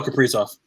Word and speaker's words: Kaprizov: Kirill Kaprizov.